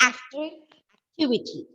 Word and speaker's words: activity: So for the words ending with Y, The rule is to stress on the third last syllable. That is 2 syllables from the last, not 2 syllables, 3 syllables from the last.